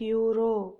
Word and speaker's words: euro: a euro here euro e is a vowel but it sounds like euro y sound that number is ear